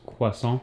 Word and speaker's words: croissant: croissants oh my gosh actually pronounced quason quason excuse as you can